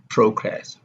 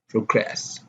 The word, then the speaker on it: progress: The stress of nouns and adjectives is on the first syllable. For example, progress, report, present, display. And then if we have a verb, the stress is usually on the second syllable, like on, progress, report, present, display.